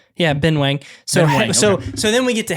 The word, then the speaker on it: Ben Wang: I think it's Ben Wang, not Ben Wong. I think we've been saying it wrong.